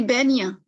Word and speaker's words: بينية: बय्यना और तवस्सुत ये बैनिया ठीक है बैनिया कहते हैं बैन ठीक है इसको मैं लिखती हूँ इसको बोलने का प्रोनाउंसिएशन बैनिया बैनिया बैनिया बैनिया बैनिया बैनिया ठीक है बैनिया ये बोलना मुश्किल है कि हम मुतवस्सित कहते